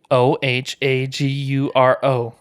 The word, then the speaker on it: Ohaguro: For all those that want to know, it's actually Ohaguro. You just wanted to spell it.